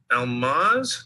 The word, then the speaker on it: Almaz: And you're Almaz?